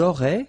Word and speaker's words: auraient: Ils auraient, so liaison here. Elles auraient. And then look, if you've got A-I-E-N-T, then phonetically it goes like aurait.